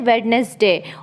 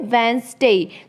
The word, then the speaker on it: Wednesday: क्या प्रोनाउंस करते हैं वेडनेसडे और बच्चे को भी वही प्रोनाउंस सिखाते हैं जिसे कि बच्चा गलत सीखता है यहां पे जो डी है यह साइलेंट रहता है तो आपको प्रोनाउंस करना है वेनसडे तो चलिए हम स्टार्ट